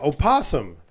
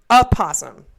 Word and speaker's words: opossum: Yeah, opossum. A possum. That's what I said, right? O is silent. Opossum.